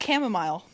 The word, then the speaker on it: chamomile: __ ] is wrong with you it's actually pronounced chamomile I was going to go with camel shut